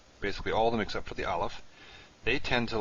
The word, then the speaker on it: aleph: vowels to a vowels aleph on the other hand really isn't pronounceable or if you do pronounce it you pronounce it as a as a glottal stop a stoppage of breath and so it doesn't